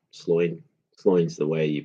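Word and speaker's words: Sláine: And um one of my favorite comics was Sloin. And um or Slain. Sloin. Sloin's the way you pronounce it.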